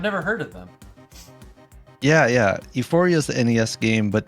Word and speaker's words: Ufouria: Euphoria. Not sex euphoria. Oh, sorry. It's spelled Ufouria. Oh. There you go. That is Saga 2. not at all how I would have ever spelled that.